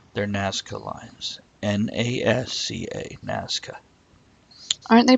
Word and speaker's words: Nazca: Nazca, yes.